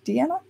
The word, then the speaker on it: Diana: am 35 years old my name is Deanna and it's written out Diana but in Danish it's pronounced Deanna and so I yeah I